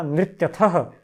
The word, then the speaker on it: नृत्यथः: इसका उच्चारण रहेगा नृत्यथः और नृत्यथः, इसी से फर्क पड़ जाता है।